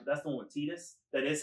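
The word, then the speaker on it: Tidus: I really liked it that's the one with Titus that is how you say his name get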